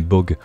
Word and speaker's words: Bogged: dire nimp n'importe quoi ça se dit pas bougied mais bog donc je pense ça se prononcera le bog voilà on dit pas le boged on dit bog certains mots en anglais voilà sans le D mais voilà en tout